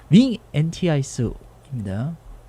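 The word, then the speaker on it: WAI: 인업 시스템 이게 웨이라고 읽으시는 분이 가끔씩 있는데 웨이가 아니고 wing anti-ice입니다.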